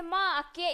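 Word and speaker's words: make: बट यहां क्या है ई को साइलेंट करने पर यह क्या क्या हो जाएगा जी आई बीई गिव हो जाएगा राइस हो जाएगा आर आई सी E rice B आई के ई बाइक एम ए के ई मेक इस तरह से आप इसे प्रोनाउंस करेंगे ना के मके बके रि से इस तरीके से आप नहीं करोगे तो गाइस आपने ई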